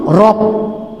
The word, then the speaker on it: Rabb: Bacanya Rob, tulisannya Rab.